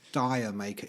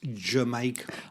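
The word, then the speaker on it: D'yer Mak'er: had to tactfully explain it's not pronounced dire maker it's jamaica i was i i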